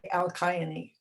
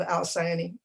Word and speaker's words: Alcyone: the friend said well his grandmother would probably say al qaeda but i'm going to go with the american pronunciation and call it the lives of al sayani last week we heard